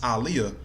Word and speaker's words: Aaliyah: to the singer Aliyah her name is pronounced Aliyah she used to go on different interviews saying her name saying Arabic meaning saying how it was pronounced Aliyah but most fans most